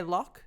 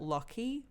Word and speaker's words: Locke: I'm going to say Locke. It's spelt Lockie, but we're not saying that. We're Australian. Lockie, foul. Not for us. I think Locke is more fairy to me.